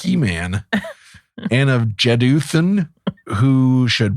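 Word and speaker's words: Heman: and of H hean I don't know why I was struggling with pronouncing it it's He-Man and of jedan who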